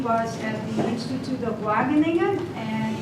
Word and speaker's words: Wageningen: And his PhD was at the Institute of Wageningen, and in the Dutch way how to pronounce that is Wageningen.